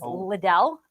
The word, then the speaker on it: Liddell: But my maiden name was Liddell. And so with my weird first name and my kind of weird last name, I got called all the time.